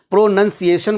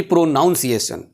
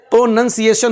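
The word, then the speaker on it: pronunciation: एन सी आई ए टी आई ओ एन प्रोनंसिएशन बोलते हैं ना कि प्रोनाउंसिएशन कई लोग प्रोनाउंसिएशन बोलते हैं जो ऑफेनली मिस्टेक है टोटली मिस्टेक प्रोनंसिएशन होता है।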